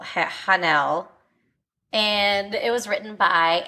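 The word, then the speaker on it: Haenel: noi merlon and Adele you have too many vowels in your last name hanel hanel and it was written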